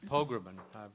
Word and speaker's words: Pogrebin: Letty Cottin Pogrebin, did I say it right? Perfect, thank you. She told me to just say Po and then mumble the next three syllables.